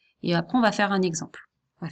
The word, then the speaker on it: vais: Alors ce mot-là, il se prononce V. Parce que le AI, ça fait V. Ça fait E en fait, le AI, pardon.